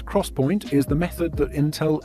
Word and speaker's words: XPoint: products the 3dx point which is pronounced as cross point is the method that